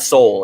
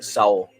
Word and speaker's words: Seoul: you did spell raid it's pronounced soul not seoul it's soul yeah london would be